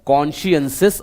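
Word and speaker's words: conscientious: आई ई एन टी आई ओ यू एस कॉन्शियसेस आप इस प्रकार प्रोनाउंस करेंगे इसका मतलब होता है कोई ऐसा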